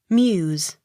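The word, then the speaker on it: Meux: m e u x muse the x sounded as s m i l l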